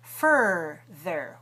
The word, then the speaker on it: further: The next word is further. Watch the shape of my mouth for er in both of those syllables. And the z comes in the middle.